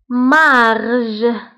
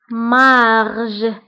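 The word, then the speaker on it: marge: الشده فكنقولوا غليس غليس مارج مارج قلنا جي تبعها او كتقرب لو سون ج مارج نيجليجابل فهنا عندي جوج الحالات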